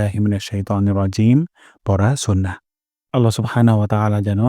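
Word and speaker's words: الرجيم: হরফ উচ্চারণ করেন তাহলে জিম উচ্চারণ করব জিহ্বার মাঝখান থেকে জিহ্বার মাঝখান উপরের তালুর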